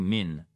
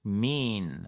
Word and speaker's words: mean: On ne dit pas to mean. D'accord? Il faut relâcher et aller vers l'avant. To mean.